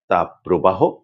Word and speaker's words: তাপপ্রবাহ: আর শব্দ দুটি হচ্ছে তাপপ্রবাহ ও দাপওতাহ। অনেকেই এ দুটি শব্দের উচ্চারণ ভুল করে থাকেন। তারা বলেন তাপ প্রবাহ দাপদাহ এমন করে এ দুটি কিন্তু সম্পূর্ণ ভুল উচ্চারণ এটি করা চলবে না।